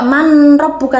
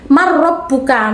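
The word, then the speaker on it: من ربك: Bacanya tidak manrabbuka tapi marrabbuka. Non sukun bertemu dengan ro.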